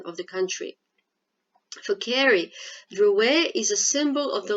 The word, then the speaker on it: Drouet: It's pronounced Drouet. My father was French. Charles S. Drouet.